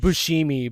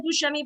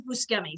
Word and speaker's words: Buscemi: probably right then yeah i've also heard bushimi but like yeah i always have said buschemi but he says buscemi so i'm going to go with that it's definitely that then